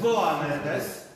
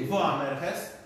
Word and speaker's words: Boanerges: W Marka Ewangelii jest powiedziane, że synów Zebedeusza nazwano Boanerges. Tak naprawdę nazwano ich Boanerges, ponieważ w greckim języku litera B czyta się jak wy i to tak naprawdę byli Boanerges, czyli synowie gromu.